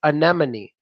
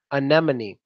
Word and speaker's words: anemone: with M&M no I'm joking well yes it's anemone anemone now it means to go crazy like I